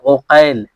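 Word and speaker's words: عُقيل: গিয়ে ভিন্ন ভিন্ন হবে যেমন মোহাম্মদ ইবনে আকিল মোহাম্মদ ইবনে আকিল আরেকটা হচ্ছে মোহাম্মদ ইবনে ওকাইল মোহাম্মদ ইবনে ওকাইল তো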